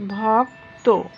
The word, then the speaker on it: ভক্ত: যেমন খেয়াল করো, ভক্ত, এখানে ভয়ের লাস্টে আছে কি যুক্ত ব্যঞ্জন বর্ণ, এই যুক্ত ব্যঞ্জন বর্ণের সাথে একটা অকার আছে, এই অকারটা ওকারে পরিণত হবে ভক্ত।